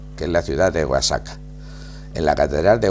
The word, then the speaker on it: Oaxaca: es la ciudad de guasaca en la catedral de guasaca hay Oaxaca Perdón un poquito y sabe que es la pronunciación de la x y de la J E igual en el Castellano antiguo efectivamente en la ciudad